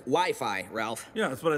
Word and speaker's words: Wi-Fi: blood-pressure machine kids love those things whoopee wifey well it's either wiffle ball or an arranged marriage game it's actually pronounced Wi-Fi Ralph yeah that's what I said and Wi-Fi